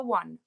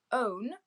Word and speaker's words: one: We don't say so one as in the number one, O-N-E. We don't say own. We say one, and so the first sound we hear is a w.